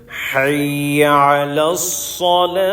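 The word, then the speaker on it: حي على الصلاة: দেন হাইয়া যে হা অনেকে আমরা বলি হাইয়া সালা হাইয়া আলাসনা লিসেন টু মি হাইয়া আলাস সালা হাইয়া আলাস সালা বলেন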